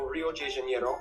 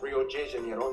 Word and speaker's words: Rio de Janeiro: from the old capital rio de janeiro that's right it's pronounced rio de janeiro not rio de janeiro get it right we're not in mexico this is portuguese not spanish this was done in